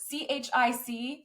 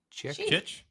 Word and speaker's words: chic: How would you pronounce ch hic? Chick. It's chic. Something's chic. There goes a hot chick. We don't know that word. Chick is with a K.